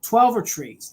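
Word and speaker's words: Twelvetrees: right hold on here it's Charles twel or trees twver trees that's how you say it he was an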